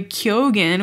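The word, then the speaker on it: Keoghan: like hanging out with Barry kyogen which turns out it's pronounced like that and he never said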